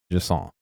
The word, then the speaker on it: Jusant: But so I'm gonna continue Jusant, I believe it's pronounced.